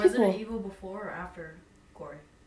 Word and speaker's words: Quarry: I think the last big hit was, what, Quarry? How do you pronounce that one again? Quarry? Q-U-A-R-R-Y? Oh, the Quarry?